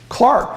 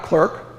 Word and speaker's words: clerk: Clark, that's how you pronounced it. Not clerk, Clark.